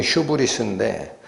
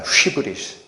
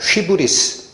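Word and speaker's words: ὕβρις: 영어로는 휴브리스인데 원래는 휘브리스입니다. 휘브리스. 원래 발음에 가깝게 하면. 그럼 이 헬라어의 뜻이 뭐냐 했더니 휘페르라는 단어에 바루노라는 단어가 합쳐서 휘페르 바루노 휘브리스.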